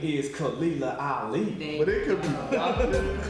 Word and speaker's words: Khalilah Ali: So please introduce her, because I don't want to mess up nobody's name, no pronunciations. Her name is Khalilah Ali.